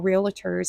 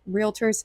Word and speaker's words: realtor: We were all realators at re realators. That's how you say it. Realtors at the time.